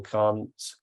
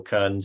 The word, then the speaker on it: Kearns: e forward slash either Can't and that's uh Ken sorry Kearns isn't it and that is